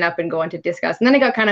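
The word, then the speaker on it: Disqus: And it's funny because I used to be on a social media platform I called it Discus, but I think it's Discuss. It's QUS is how they spell it.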